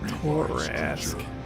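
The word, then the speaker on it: Torrasque: Torask. That's how you say it.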